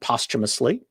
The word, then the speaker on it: posthumously: So that's how these words are pronounced, posthumous and posthumously.